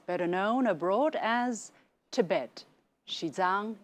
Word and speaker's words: Xizang: Xizang is the pronunciation of the Chinese name of the region.